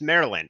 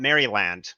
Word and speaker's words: Maryland: learned that it's pronounced Maryland not Maryland is a combat entire series yeah you do not say the Y in Maryland it's me right don't